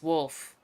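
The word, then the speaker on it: Wolfe: It's Wolf, with an E. No way. Can I call you Wolfie? Absolutely not. The E is silent, obviously. Keep up the sass that I'm gonna keep calling you Applehead.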